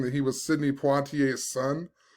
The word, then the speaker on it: Poitier: i pulled up a video so i could pronounce it properly poitier sidney poitier the first black person to win